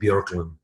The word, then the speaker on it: Boecklin: Yeah, the two dots are supposed to be over the O, so you take it away. It's like Bjorklin.